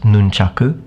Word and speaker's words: nunchaku: It's actually pronounced nunchaku, by the way, in Japanese.